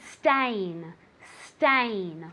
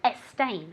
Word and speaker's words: stain: say Mancha very good stain stain repeat I never want to hear a stain okay there's no e at the beginning of stain it's like a snake's stain okay repeat very good